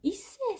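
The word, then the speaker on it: 一生: あ、山岸さんは一世さんって読むんですね。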